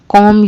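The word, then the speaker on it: comb: कॉम्ब your hair. अपने बाल बना लो। इसको कॉम्ब बोलना है। कॉम्ब नहीं। बी साइलेंट है। यह जो बी है ना यह जो बी है यह साइलेंट है।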